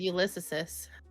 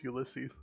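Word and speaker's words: Ulysses: huh yeah yeah yeah ulyses is that is that how you say it we always said yis no it's ulyses it's that it's that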